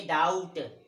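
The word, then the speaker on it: doubt: ये डाउट, तो इसमें बी का उच्चारण नहीं करते।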